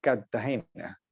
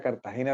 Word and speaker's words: Cartagena: la r intermedia entonces un cartagenero típico no dice Cartagena sino Cartagena como si fuera con doble t Cartagena y pronuncia muchas palabras